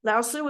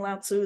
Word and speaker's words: Lao Tzu: Lao Tzu is another way. I'm going to be saying Lao Tzu. That's just the way that I got taught it a long time ago.